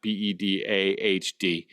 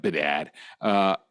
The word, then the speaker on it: Bedard: That's Bedard, not Bedahd, like some of you guys pronounce Bedard.